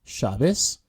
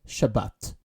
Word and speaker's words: Shabbat: keeping to this topic ashkanazi Jews in the English-speaking World pronounce the soft Tav as an S which leads us to the different pronunciations between Tel Aviv and chabis where Israelis pronounce it Tel Aviv and Shabbat pointer number four when